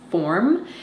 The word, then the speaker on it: Forme: Form is how you pronounce it, and it's spelled Forme.